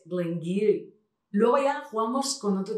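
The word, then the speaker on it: Glen Garioch: Y otro súper curioso es el que, leyendo la etiqueta, diríais Glengarioch o Glengarioch. Este es uno de los más difíciles, es Glengiry.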